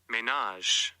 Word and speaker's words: ménage: Ménage.